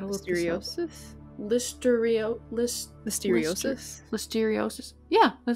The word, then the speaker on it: listeriosis: God I got a little seriosis listeria list listeriosis listeriosis yeah that sounds right okay thank you